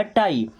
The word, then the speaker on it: tie: Okay, then TIE, दोस्तों टी से बनता है ट, अब आ और बड़ी की मात्रा, ये बन जाएगा टाई।